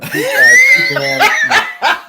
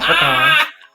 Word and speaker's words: pecan: I do not pronounce the S in Illinois. It is Illinois, not Illinois. Just like pecan, not pecan.